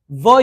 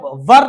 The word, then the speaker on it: were: सी जब हम बात करेंगे WERE की, तो इसे हम वर ना पढ़ के आर को साइलेंट कर देंगे एंड हम इसे पढ़ेंगे व यानी आ जाएगा, ठीक है।